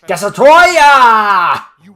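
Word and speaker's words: Destoroyah: And yes, I pronounced it correctly, it's Destroya!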